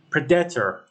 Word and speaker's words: predator: pred Predator but it is wrong the correct pronunciation is predator you know you place maest on the first